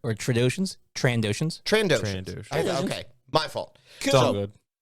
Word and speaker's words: Trandoshans: There's an N in there. Or Trandoshans.